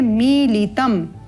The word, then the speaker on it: मीलितम: यहाँ आप देखते हैं कि म में ई का दीर्घ स्वर है, तो जहाँ दीर्घ स्वर है वहाँ पर दीर्घ अवधि, जहाँ पर ह्रस्व स्वर है वहाँ पर ह्रस्व अवधि, समय अवधि का निर्धारण करते हुए उच्चारण करना है।